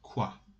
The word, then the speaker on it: quoi: types of question words one of them is qua it is pronounced and it is and the meaning is